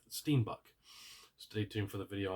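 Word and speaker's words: steenbok: and then also uh steenbuck steenbuck steinbuck I keep saying it wrong but steenbuck stay tuned for the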